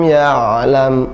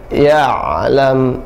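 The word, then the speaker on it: يعلم: Suara ain ada suara tawassut atau bainiyah, tidak dia syiddah, tidak dia rakhawah, tidak tertahan suaranya, tidak juga mengalir, tapi pertengahan, ya. Tidak boleh malam ya'lam, tertahan, ya. Tidak boleh juga malam ya'lam, tapi pertengahan. Malam ya'lam ditekan, ya, langsung ditarik kembali atau dilenturkan, ya.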